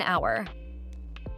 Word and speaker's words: hour: I still have an hour. H here is silent, so the first sound in the word is vowel.